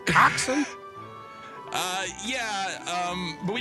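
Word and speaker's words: coxswain: SW but it's pronounced coxen uh yeah um but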